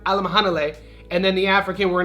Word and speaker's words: Alimkhanuly: Even though his last name Alam Hane is very fun to say, it's spelled Alam Canoli, but if you want to properly learn Alam Hanle and then the African,